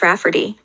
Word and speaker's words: Rayfarty: She told my mom that spelling it Rayfarty will be obvious that it's pronounced Rafferty, but it makes it look more girly.